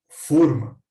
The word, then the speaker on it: fôrma: que receberam a e quando pronunciamos com o fechado forno essa palavra significa World em um recipiente como forma de bolo ou uma forma para assar bolo se a pronunciamos com